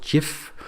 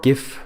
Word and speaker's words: GIF: So the animation files in the author system um is a file extension called GIF or GIF. Uh it's pronounced both ways GIF and it's uh an